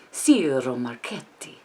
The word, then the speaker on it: Ciro Marchetti: Ciro Marchetti. You have to roll your R, right?